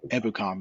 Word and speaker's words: Ebukam: couple of weeks the announcers saying it Ebukam, and I was like, that's got to be wrong. But Samson Ebukam is of South African heritage, so that is the proper Ebukam is the proper pronunciation.